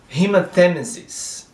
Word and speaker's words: hematemesis: So, overt, occult, hematemesis, hematemesis, é como se fosse um acento circunflexo aqui no E.